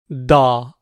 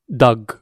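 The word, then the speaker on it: dağ: Da, mountain. So you can see here, it becomes da, not dag.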